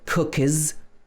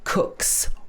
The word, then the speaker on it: cooks: s, ks, ks, cooks, We don't say cookies, it's cooks or walks.